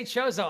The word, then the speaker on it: Chozo: voice acting in this game and they say chozo i just never grew up saying it that